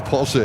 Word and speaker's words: Porsche: It's Porsche. It's not Porsche. It's Porsche. They pronounce the E in the end.